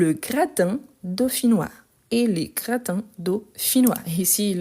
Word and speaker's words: dauphinois: Dauphinois. Donc, dauphinois, ça s'écrit comme ça. Dauphinois. Avec PH et noix, N-O-I-S. Dauphinois.